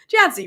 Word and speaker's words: Jancy: Like I just was saying to Yancy Jancy, do we pronounce the J in your name? Oh my God, don't get mad at me. Jancy, right?